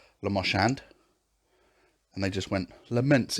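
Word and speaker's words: Le Marchand: i don't really understand why we're not calling it the la marchand configuration is that because we have to say it like that otherwise it's lamoshand and they just went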